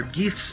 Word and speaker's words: Geeth: or Geeth's turn. I love how nobody can pronounce his name. I don't even know. I still don't know how it's pronounced. It's Geeth. Geeth.